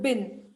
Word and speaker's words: bin: So actually for a long time I had been pronouncing, you know, at home we used to pronounce it as dust bean, but it's not Bean. dust bean, Bean. it's just bin.